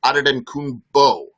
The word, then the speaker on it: Antetokounmpo: So the NBA's pronunciation is Giannis Antetokounmpo, B-O.